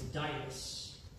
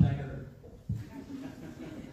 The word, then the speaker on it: Dias: It's Dias, not Dagger.